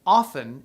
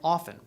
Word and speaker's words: often: at this time that speakers stopped pronouncing the D in handkerchief handsome and the p in raspberry and the T in Chestnut and often in terms of pronunciation